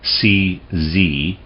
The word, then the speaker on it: Czernin: So Czernin, and his name is spelled C-Z-E-R-N-I-N, Czernin.